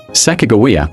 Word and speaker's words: Sacagawea: Sakawa with a G sound. Seems closer to the hadats of pronunciation and aligns with the fact Lewis and Clark never used a J.